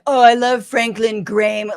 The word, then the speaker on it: Graham: like even if he doesn't know how to pronounce Franklin Graham's name correctly. Sorry, that's Graham. Franklin Graham.